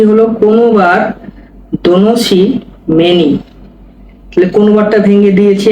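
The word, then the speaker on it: konobar: ভেঙ্গে দিচ্ছি আপনাদেরকে। দেখুন কোনবার এটা হচ্ছে কে ও এন ও বি এ আর ও নোবার হবে কোনবার এটা এটা হল এইটা হচ্ছে এন তাহলে কি হল কোনবার কোনবার মানে ওয়েটার কোনবার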